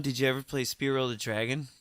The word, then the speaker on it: Spyro: Hey, when you had PlayStation 1, did you ever play Spyro the Dragon? Spyro, not Spyro.